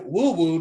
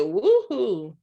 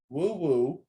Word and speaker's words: Woo Woo: We have Woo Woo. That's how you say her name. Woo Woo. Singing Good Girl My Madonna, huh? I said woohoo. Woo Woo.